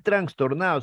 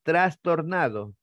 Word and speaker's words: trastornado: fidedigno un documento fidedigno no es transtornado si no es trastornado como no es exuberante